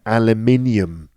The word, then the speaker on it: aluminium: food aluminum foil right we call it aluminium aluminium aluminium five syllables aluminum four aluminum where's the stress